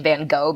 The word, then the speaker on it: Van Gogh: We're all saying Van Gogh because we don't have that fricative in English, right?